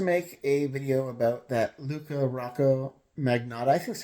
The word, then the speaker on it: Luka Rocco Magnotta: I promise to make a video about that Luca Rocco magnetic is how you pronounce his name because like I mean I